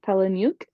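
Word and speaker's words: Palahniuk: Chuck palah who wants that I look new Pala nuke that's not how you say it I know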